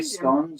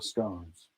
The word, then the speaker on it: scone: also give you defition the British say scon or scones scones okay so it's a scone horse back riding sidewalk